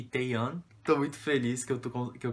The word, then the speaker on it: Taehyun: É Bongyu e Taeyeon. São os nomes que eu tava pronunciando errado. Eu sempre lembrava do Taehan e eu falava Taehan achando que era a mesma pronúncia, mas é Taeyeon e Bongyu.